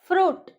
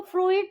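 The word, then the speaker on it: fruit: फ्रूट, उसको फ्रूइट नहीं बोलेंगे हम, ठीक है।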